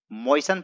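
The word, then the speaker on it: moisten: तो यहां पर आप मोइस्सन का उसे कर सकते हैं यहां पर 30 साइलेंट है इसे नहीं पढ़ना है मोइस्सन पढ़ा जाता है दोस्तों यहां पर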